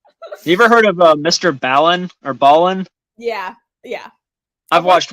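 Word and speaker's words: MrBallen: It's Ballin, Mr.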